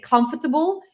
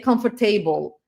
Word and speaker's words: comfortable: And another thing, like I said, pronunciation problems are not just mispronounced sounds. It's also wrong stress in the in the words, right? Like, when you say, for example, not instead of saying comfortable, you say comfortable.